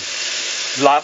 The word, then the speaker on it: larb: I've seen this with chicken it's called um lop this how it's pronounced by native ties spelt lar V typically